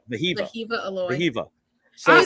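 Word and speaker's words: Wehiwa Aloy: Vahiva Aloy. Vahiva. Vahiva Aloy.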